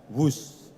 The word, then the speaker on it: Whoosh: operasi optimal sistem hebat sekali lagi w h o o s h tapi membacanya wus kereta cepat Jakarta Bandung